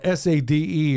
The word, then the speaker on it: Sade: hair always pulled back it's spelled s-a-d-e I guess you should man your mama named you Sadie I'ma call you Sadie he call it Sade all you want man